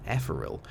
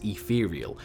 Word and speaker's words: Ethereal: thinking of is ethereal now you've heard me pronounce it both ways in the past Epal and ethereal it's whatever catches my biscuit if I'm in the mood to call it one or the other I do you've noticed